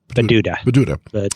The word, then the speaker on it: Bududa: Griffin's estimate for overall childhood splenomegaly in Buduba. Is that how you pronounce it? Bududa? Bududa.